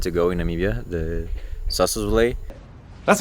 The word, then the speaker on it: Sossusvlei: Looking forward to go to a place that I think is the place that most tourists want to go in Namibia, the Sossusvlei.